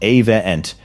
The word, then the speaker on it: Avient: On April 20th, 2022, a company called Avient, pronounced Avient, announced it was buying DSM's protective materials business.